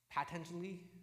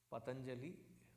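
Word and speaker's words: Patañjali: uh ayurvedic company called patanjali and the kinds of pronunciation I hear of that name patentially no it is not patanjali it is patanjali who's the the envisioner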